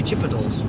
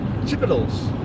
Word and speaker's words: Chipotle: Chipotle should be Chipotles that's not even remotely the same thing it's kind of the same thing no it's not chipal Chipotle is the way it's supposed to the way you're supposed to it is spelled that